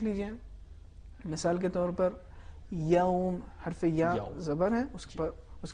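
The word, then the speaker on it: يوم: ہو تو ہمیں اس زبر کا خیال رکھنا چاہیے. ایسا نہ ہو کہ وہ زبر پیش میں بدل جائے، یوم نہ ہونے پائے. مالک یوم الدین نرمی کے ساتھ، ایسا نہ ہو یوم، یہ تلفظ کو خراب کر دیتا ہے.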